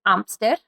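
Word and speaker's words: hámster: n is ferret um hamster is an amster amster and there is an h at the beginning there silent h gerbil so you can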